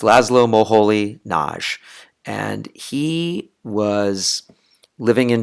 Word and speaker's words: László Moholy-Nagy: always I just cringe when people get that name wrong. But it's Laszlo Moholy-Nagy, and he was living in Germany, teaching at